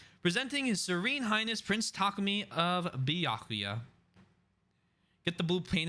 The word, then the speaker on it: Takumi: love a Boro uh takumi it's takumi isn't it I I always mess this up I always fix it after I hear it but it's it's emphasis on the second syllable yeah yeah that's what